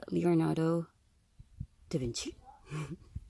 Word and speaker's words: Leonardo da Vinci: And here is Leonardo da Vinci.